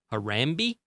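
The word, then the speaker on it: Harambe: lowland gorilla named uh harami I guess is how you pronounce it it's h a r a m b e anyway there was this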